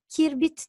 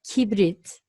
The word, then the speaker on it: kibrit: bazı kişiler Bu Nakip kirbit diyor kibrit diyor yanlış söyleniyor doğrusu kibrit ve son kelimemiz bir